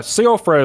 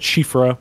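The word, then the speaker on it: Siofra: like interesting so uh sea alfred is the way i pronounced it but shifra i think is the way it's actually supposed to be doing uh it means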